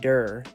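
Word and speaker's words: דור: And the word is pronounced dur meaning ball or spherical 3D object.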